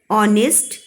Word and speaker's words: honest: Similarly, HOUR, our, honor, honest, begin with a consonant H, but we use an before them because they begin with a vowel sound A.